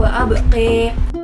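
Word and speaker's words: وَأَبْقَىٰ: Yang pertama yaitu sakta pada bacaan wal akhiratu, dan yang kedua perubahan pada akhir ayatnya yaitu imal pada bacaan wa abqa, sehingga cara bacanya menjadi wal akhiratu khairu wa abqi.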